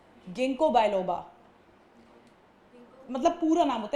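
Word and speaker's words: Ginkgo: Third वाले का pronunciation क्या होगा एग्जांपल में जिम्नोस्पर्म? सोचो क्या होगा, तुम एक बार बोल के देखो। गिंको। हाँ, गिंको बायलोबा, मतलब पूरा नाम होता है।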